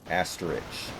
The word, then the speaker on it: asterisk: Asterisk. Asterisk. Dude, I This can't be can't make serious. the fucking sound. My tongue will not cooperate. In that last syllable, there's another S sound.